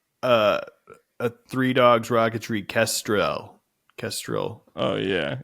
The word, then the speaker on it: Kestrel: a three dogs rocketry castril Kestrel oh yeah it is just pronounced Kestrel I believe but yeah they capitalized